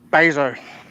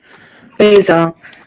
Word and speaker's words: Bezos: I think Amazon owns a fair chunk of it, which is Bezos. Bezos. That's how you pronounce it.